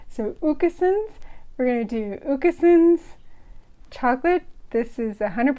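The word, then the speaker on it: Åkesson's: I would pronounce this accent you would be wrong you that little ring above the a makes it an O sound so it's oka soms and that's it I'm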